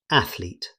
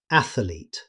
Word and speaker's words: athlete: First, athlete. Many learners add an extra syllable and say athlete. Native speakers simply say athlete. No extra vowel.